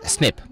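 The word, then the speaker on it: SNP: nucleotide polymorphisms what does that mean and it's pronounced usually as snip now we have the human genome decoded we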